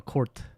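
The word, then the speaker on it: kort: K O R T. Oh, court. K. Okay. Yeah, like court like but court.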